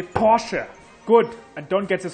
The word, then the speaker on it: Porsche: In Germany, we say Porsche.